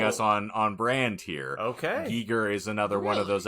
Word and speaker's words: Giger: So it's actually pronounced Giger.